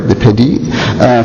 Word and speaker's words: DiPedi: I also want to thank John DiPedi, I pronounced that right, DiPedi, for being my chaperone and guide.